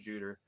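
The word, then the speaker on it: Tsjuder: guess I would say is that how you pronounced the tsj-u-d-e-r I think it's pronounced juter um somewhere in that vein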